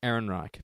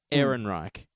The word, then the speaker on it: Ehrenreich: Alden Ehrenreich, but I always forget it until I see it. Ehrenreich.